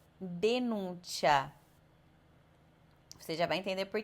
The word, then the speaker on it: denuncia: Então, ao invés de você ler ciao, cera ou denúncia, você vai ler ciao, c'era, denuncia.